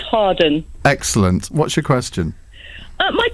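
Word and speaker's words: Hawarden: It's pronounced Harden.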